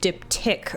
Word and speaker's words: diptych: um be right back it's pronounced dip tick okay also good to